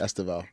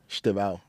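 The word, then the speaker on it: Estêvão: Esteval. Oh, he's. You lot call him Steve? Yeah, Esteval. That's how you pronounce it. Esteval, yeah. In Portuguese.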